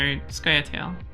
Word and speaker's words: Scoia'tael: It's pronounced squirrels. So Scoia'tael.